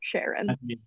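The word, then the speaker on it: Charon: was also named sharon so he made it the pronunciation to match her i have no idea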